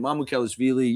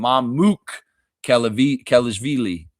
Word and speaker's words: Mamukelashvili: Like the Bulls announcer last night was calling him Mamuk Kelishvili. Kelevili or something like that.